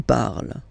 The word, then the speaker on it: parles: So you've got the two first forms, you pronounce them the same way. You write them differently, of course, because you've got e here, and then you've got e and s, okay? But then phonetically, they are the same.